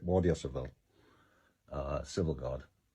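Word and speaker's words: Guardia Civil: uh the Civil guard waria civil is the way they pronounce it waria cvil uh civil guard not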